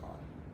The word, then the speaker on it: Kahlo: Frida Kahlo.